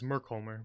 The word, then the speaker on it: Merkimer: It is Merkholmer, but Merkimer is how he pronounces it. Okay, I wasn't sure if we were supposed to be pronouncing it with the L or not.